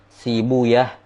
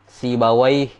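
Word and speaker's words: سيبويه: Kalau ahli hadis membaca rahawaih, ya, sibawai, itu kiranya cara bacanya ahli hadis, dan mereka tidak punya landasan bacaan dalam hal ini. Yang benarnya adalah cara bacanya ahli lugo, ya, cara bacanya ahli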